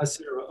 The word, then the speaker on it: Acera: Am I pronouncing that correctly, Tom? Yes, correct. Acera, okay.